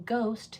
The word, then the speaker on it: ghost: In ghost, that silent letter pair gh, you're only hearing the g, not the h.